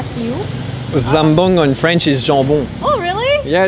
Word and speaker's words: jambon: Zambong in French is jambon.